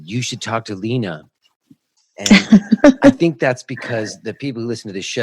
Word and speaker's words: Leana: Marie hello hello how are you hi Lena is that how you say your name Lena that is that is how you say my